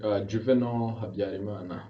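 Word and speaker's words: Juvénal Habyarimana: Can you help me on the pronunciation? Juvenal Habyarimana.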